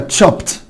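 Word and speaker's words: chopped: تشوب معناها يقطع، طبعا انا مضاعف واحط الايدي فتبقى تشوبت تشوبت تشوبت تشوبت. يبقى لاحظ الايدي هنا نطقت تا والاي سايلنت مش هتنطق.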